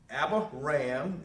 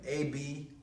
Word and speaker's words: Abiram: Dathan, D-A-T-H-A-N, Abiram, A-B-I-R-A-M, Abiram, and then Elam, E-L-I-A-B, Elam, and then name called On, O-N, On, who was the son of Pethlon, P-E-L-E-T-H.